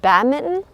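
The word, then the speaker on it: badminton: sport it was binton you don't pronounce the N what do how do you pronounce it like a mitten that you put on your hand bad Mitten bad bad Mitten bad bad Mitten I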